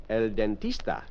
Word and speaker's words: el dentista: El Dentista. El Dentista. Although it ends in an A, it is masculine as shown by the definite article L. It's L dentista, not la.